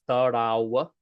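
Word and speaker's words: તળાવ: Now, I know it's spelled tarav, but often V's turn into W. So it's tarav is how it's pronounced.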